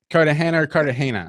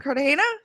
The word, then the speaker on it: Cartagena: Cartagena. Cartagena?